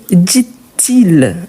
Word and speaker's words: dit-il: que c'est l'inversion mais surtout on prononce le t. Pourquoi ? Parce qu'après on a une voyelle, on a il, elle ou on donc que dit-il ?